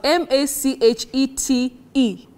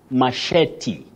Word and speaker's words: machete: machete right machetti okay with the stress on the second syllable okay got it phis